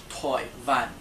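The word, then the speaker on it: 台灣: Taiwan is pronounced Toi Van.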